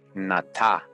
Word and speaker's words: Nata: of the Aztec story, Nata, pronounced with the broad sound of ah, is not far from the name of Noah or Noé.